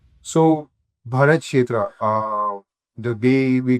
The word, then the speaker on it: Bharat Kshetra: So Bharat Shetra uh the way we call it uh and